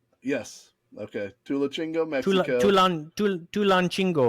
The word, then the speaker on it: Tulancingo: Tulachingo. Yes. Okay. Tulachingo, Mexico. Tulancingo, I think.